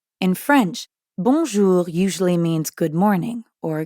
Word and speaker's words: bonjour: in english in fact the n isn't really pronounced at all instead practice saying o